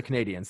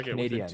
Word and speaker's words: Canadiens: Achieved by the Montreal Canadiens, and that's how they say it. They don't say Canadians, they say Canadiens.